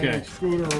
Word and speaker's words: Van Scooter: Van Scooter rhymes with Hooter.